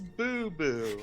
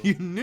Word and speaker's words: Labubu: It's a Labubu. Yanubu. I mean, I was in the ballpark. It's the right You syllables.